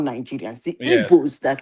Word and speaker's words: Igbo: I think that GBO is actually the native, the Igbo language way of pronouncing Igbo. With the G.